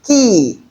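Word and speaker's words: quay: Look at the spelling and then compare it with the sound. So it is often mispronounced. This is key, key, key. You pronounce it just like K-E-Y, key. So they are homophones.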